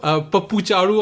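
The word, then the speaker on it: Pappu Chaaru: Pappu Charu on Twitter, right? That's how you pronounce it.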